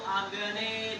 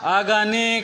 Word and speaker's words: अग्ने: हरि ओम मा सुजातो ज्योतिखा सहस्रम वरुथमा सदस्वः वासो अग्ने विश्व। आगाने कहाँ है? अग्नि फिर क्यों आगाने क्यों बोल रहे हो?